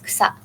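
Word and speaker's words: 草: And some examples include the character for mountain, where the onyomi is sang, and kuyomi is yama. And for grass, the onyomi is so, and the kuyomi is kusa.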